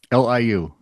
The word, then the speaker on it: Liu: Lucy Lee or Lucy Liu? Liu. Liu. Sure. Lee is spelled Li or Lee.